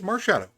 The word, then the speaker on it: Marshadow: How do you even pronounce that? Incorrect. Annette? I think it's Bennett. Yeah. Louis. Oh, okay. Marshadow? It is Marshadow.